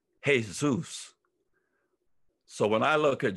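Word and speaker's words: Jesús: i look at jesus i pronounce the j with an h sound the way you would in spanish in spanish the j is ha hey zeus so when i look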